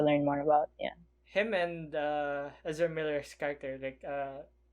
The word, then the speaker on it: Ezra Miller: That being said, I really loved what's his name, Ezra Miller, did I say it right? Yeah, Ezra Miller.